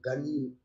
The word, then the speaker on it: Ganyu: Walaupun sebenarnya Ganyu dibacanya. Gan spasi Yu, Ganyu.